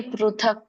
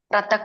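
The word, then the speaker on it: पृथक्: ಆರು ಬರ್ತದೆ ಬರುತ್ತೆ ಋಷಿರು ಸೋ ಹಾಗಾಗಿ ಪೃಥಕ್ ಪರ ಪರ ಅಂತ ಹೇಳಬೇಕು ಪ್ರತಕ್ ಪ್ರತಕ್ ಅನ್ನಂಗಿಲ್ಲ ಅಲ್ಲಿ ಪೃಥಕ್ ಪೃಥಕ್ ಪೃಥಕ್ ಪೃಥಕ್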